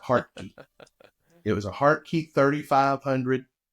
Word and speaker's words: Hartke: People pronounce it all kind of ways. That's the way I pronounce it, Hartke.